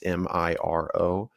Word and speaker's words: Miro: It's either Miro or Miro. I don't know how to pronounce it. It's Miro.